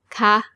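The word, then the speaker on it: คะ: Okay, here again for normal statements with a falling tone and for questions with a high tone ca.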